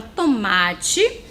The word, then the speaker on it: tomate: ela é uma trissílaba no finalzinho parece a letrinha aí' Não parece mas não é é porque a letra é quando está no final de uma palavra ela tem som de ir então a palavra tomate